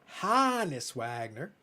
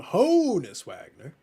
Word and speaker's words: Honus Wagner: So many people call it Hannes Wagner, but they call him Honus Wagner regularly.